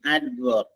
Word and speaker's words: adverb: Next ADVERB, ആഡ്വർബ്. അവിടെ D sounded ആണ്.